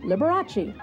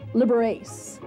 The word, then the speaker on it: Liberace: trying to teach people to pronounce his last name Liberace and not liber8 he even printed it